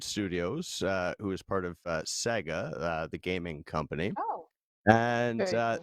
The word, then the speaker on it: Sega: It was with Amplitude Studios, who is part of Sega, the gaming company. Oh. And they Did you say Sega?